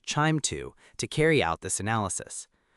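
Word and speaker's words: QIIME 2: We often use QIIME2, usually pronounced QIIME2, to carry out this analysis.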